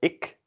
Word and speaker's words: ik: So the first one is pronounced as ik, and so it is the same as the second one, prikken, which means to poke.